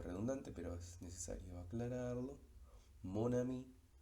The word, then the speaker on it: mon ami: Mon ami, desaparece la nasalización y esa N cobra vigencia, se pronuncia como N. Nosotros habíamos dicho que en la nasalización la consonante se pierde, pero con la liaison se recupera, podríamos decirlo. Entonces, en este caso la N de mon aparece y se enlaza con la A de ami, mon ami.